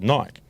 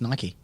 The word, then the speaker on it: Nike: of the contract with Nike yep Nike right Nike sorry my apologies God you're sensitive about that just how it's pronounced Nik no it's Nike goddess It's a Great Goddess of Victory goddess of Victory is